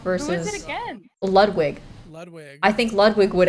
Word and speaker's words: Ludwig: Ludwig. That's how you say it. Ludwig.